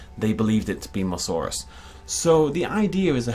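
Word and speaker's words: Mussaurus: Everyone calls it Musasaurus. I call it Musasaurus all the time, but it's definitely Musaurus or Musaurus.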